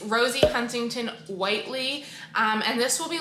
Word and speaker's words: Rosie Huntington-Whiteley: start with the application i think i just said her name wrong in that first clip it's rosie huntington whiteley um and this will